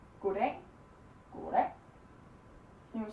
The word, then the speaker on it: god dag: Here we say goddag, goddag. Here we say goddag, goddag. Because it's 2 words, so we put the pressure on both words.